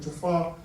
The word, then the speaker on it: Jafar: It's not Jabba, but Jafar.